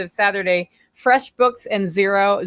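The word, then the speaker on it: Xero: Saturday fresh books and zero zero is spelled x r o and I have I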